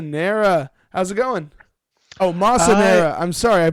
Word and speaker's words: Massa Nera: Oh, Massa Nera. I'm sorry, I mispronounced that one.